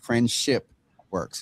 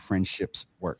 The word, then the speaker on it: FriendshipWorks: friend and I'm I'm I've been saying it wrong friendship works friendship works not friendships work friendship works so um